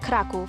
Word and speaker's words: Kraków: Krakow, pronounced Krakow in Polish, was the capital of Poland prior to Warsaw.